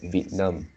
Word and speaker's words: Vietnam: There is two syllable at the front part, and you pronounce at Vietnam. So it's actually Vietnam, Vietnam.